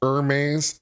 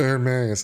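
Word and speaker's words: Hermès: dollars in purchases yeah it's pronounced Herm well lah dah I guess I don't shop at the right boutiques man I'm just giving you a hard time sorry I'm not Ry enough to know that's pronounced Herm okay Herm I'm sorry the H is silence Federal prosecutors say Santos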